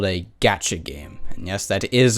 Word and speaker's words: gacha: To fill those in who aren't in the know-how, Genshin Impact is what's called a gacha game, and yes, that is apparently how you're supposed to pronounce it.